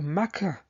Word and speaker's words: Mecca: for the Islamic claims the mecca or meca as it is pronounced by Muslims as having its Origins